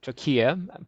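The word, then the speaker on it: trachea: truck here um now the guy pronounced it trokia but it's you know it's tomato tomato so it goes into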